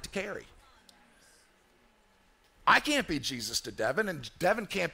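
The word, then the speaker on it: Jesús: Actually, if he's of Spanish descent, he could be Jesus, but it's pronounced Jesus instead of Jesus.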